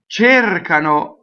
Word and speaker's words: cercano: Cercano, cerco, that verb, cercare, is always A in the stress position, right? Io cerco. Does that make sense? So cercano is A. I hear chair all the time, like chair, like what you sit in. Cercano, right? No.